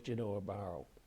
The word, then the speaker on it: Genoa Barrow: With me in the studio is Genoa Barrow.